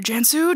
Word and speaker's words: Cansu: c and i'm saying jansu i'm sure you get this all the time i am pronouncing it correctly the c sounds like a j yes correct um so